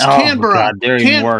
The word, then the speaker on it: Canberra: Because of all Yeah, because of all the World War II documentaries I've watched, they all still say Canberra, but it's Canber.